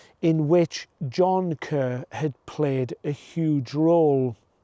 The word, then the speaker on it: Kerr: that all of the male line in the Kerr family, or Kerr family to pronounce their name correctly, had inherited a gene which caused them to be left-handed.